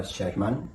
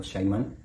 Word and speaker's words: shaman: Se pronuncia Shaman o Shaiman.